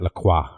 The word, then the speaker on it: La Croix: French would pronounce that La Croix. The Croix, for real?